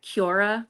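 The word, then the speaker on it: Quora: Melody and I wanted to do like a Cura you know is that how you say it?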